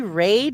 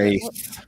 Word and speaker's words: wraith: A tree raid? Is that what how you pronounce it? Wraith. Wraith. Wraith. Oh, wraith. Okay.